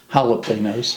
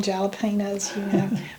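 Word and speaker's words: jalapeños: I never pronounce that right. But anyway, say it for me. Jalapenos. Okay. I always call them jalapenos, but it's jalapenos.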